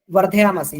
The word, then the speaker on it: वर्धयामसे: जैसे इसमें ये है घृतेन वर्धयामसी, है ना, ये र नहीं, वर्धया नहीं, इसको र बोलना है, र होता है ना, वर्धयामसी र।